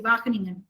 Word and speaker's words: Wageningen: It is Wageningen University, Wageningen. Wageningen. It's a tough name to spell, but it is a Dutch name, so it's Wageningen.